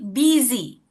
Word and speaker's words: busy: Ini dibacanya ini dibacanya are you busy? Busy. Oh, pasti. Today exactly are busy today gitu. Walaupun U ya, tapi memang agak aneh kalau bahasa Inggris ya dibacanya I gitu.